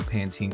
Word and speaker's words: Pantene: Straight out of a Pantene commercial. Is that how you Yankee Doodles pronounce Panten?